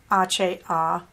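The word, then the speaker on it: hojas: the colorway ohas which since this is espanol it's actually aceh okay h-o-j-a-s can she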